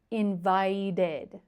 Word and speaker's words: invited: end in ED, and they all take the same sound, id. id If I say it very slow, decided, invited, started, wanted. So, you can hear that each ending is id.